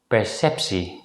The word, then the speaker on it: perceptie: If the letter combination TEA at the end of a word is preceded by the letter C or P, it's usually pronounced as si. In this situation, the letter T is pronounced as a voiceless consonant S.